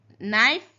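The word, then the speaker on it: knife: नाइफ के silent है।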